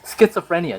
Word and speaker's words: schizophrenia: i don't it's kid so it's how you're supposed to pronounce it it's schizophrenia not so frenia like what it's schizophrenia so it schizoine on